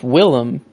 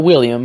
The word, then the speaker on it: Willem: yeah I guess Defoe it's Willem it's not William I always call him William it's Willem Dafoe and it's but like